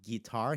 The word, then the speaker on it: guitarra: Same thing with guitarra here. Guitarra, guitarra. We're going right to the G I. That U's there, but it's largely silent.